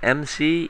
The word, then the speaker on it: EMSI: It's pronounced EMSI, Easy Minecraft Server Installer.